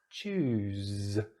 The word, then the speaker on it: choose: So the Z here, we use our voice box to create some vibration to make the Z sound, the Z sound. So goose, loose, choose.